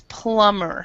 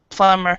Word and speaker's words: plumber: b here so it's plumber so the B is not pronounced yeah PL PL plumber also daughter's husband you